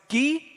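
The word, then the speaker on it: γῆ: The next word is gi, like a g sound, and then the final one is karpophori.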